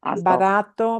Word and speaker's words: barato: In Spanish, you should feel no puff of air. See? Barato, barato, barato.